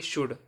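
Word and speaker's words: should: के और एम के पहले आया हुआ एल साइलेंट रहता है जैसे एस एच ओ यू एल डी शुड टी ए एल के टॉक सी ए एल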